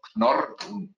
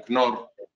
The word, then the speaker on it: Knorr: Nace a principios del siglo XX de la mano del señor Knorr, una palabra alemana muy difícil de pronunciar, con una K y N que se siguen, dos consonantes duras. Knorr-Bremse, yo recuerdo que una